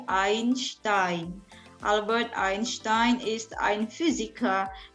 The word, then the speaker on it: Einstein: terkenal tentunya Albert Einstein jadi bacanya bukan Einstein tapi IAIN STAIN Albert Einstein is in